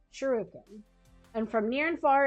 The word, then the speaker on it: shuriken: I pronounced I mispronounced that. Shruiken. Shur shuriken.